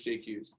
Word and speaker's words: Jaquez: It's spelled Curtis and Jaquez, but it's J. Hughes is how you pronounce it.